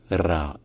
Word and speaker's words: ر: peu comme it Piaf mais la prononciation majoritaire la plus courante la plus classique la plus littéraire ça reste de loin R et donc la lettre s'appelle RA bref si jamais il